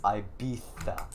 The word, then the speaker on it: Ibiza: is so ibiza it's it's spelled with a z but if you say it with a z i will pistol whip you all right it's ibiza so it's this one